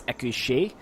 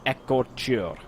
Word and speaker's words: Écorcheurs: these Écorcheurs crossbowmen, and I have been pronouncing them as Écorché because I figured that the EUR would be an A sound, but I actually found a correct pronunciation, and it's Écor, so pretty self-explanatory, Écor, and then Chur, so Écorcheurs crossbowmen. So until somebody corrects me